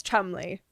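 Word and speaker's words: Cholmondeley: Enter Charles Chumley. Chumley. Chumley. And you should but you should see how this is spelled because it doesn't look like Chumley.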